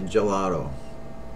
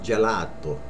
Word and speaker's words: gelato: ice cream a lot of people say gelato which is right but without the accent it's gelato gelato ice cream gelato